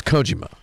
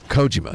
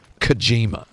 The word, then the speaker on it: Kojima: it does not belong Japanese names should be pronounced unaccented unenthused a hundred percent of the time Kojima not kijima it's what's your stance